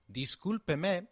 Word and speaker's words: discúlpeme: Discúlpeme is pronounced as discúlpeme, with the sound of pe like in pet and me like in met.